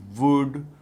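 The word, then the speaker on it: would: ठीक है वर will वुड वुड नहीं कहना एल साइलेंट है बच्चे अक्सर वुड शुड कुड कहते हैं जो कि गलत है प्र प्रोनंसिएशन होगा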